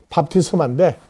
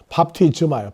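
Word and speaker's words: βάπτισμα: 침례하면은 명사 밥티스마가 아니고 정확한 헬라어 발음은 밥티스마인데 일본 사람은 스 발음을 제대로 못해요. 처음에 나올 때 스즈키는 하는데 중간에 나올 때 발음이 안 돼가지고 밥티즈마예요. 밥티즈마.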